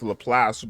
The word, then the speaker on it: Laplace: a little place here her name is pronounced LaPlace but I'm gonna just